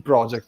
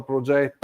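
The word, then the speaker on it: Projekt: the with the pronunciation it should be pronounced a in theory it's S Project in reality the j is also silent so that's exactly perfect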